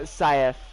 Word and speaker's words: Saif: It's pronounced safe.